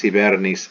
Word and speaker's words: hibernis: He puts the x, x here, because remember h is nearly silent, even classical Latin. It disappears from pronunciation entirely in the Romance languages. Ex hibernis educet, and he ex,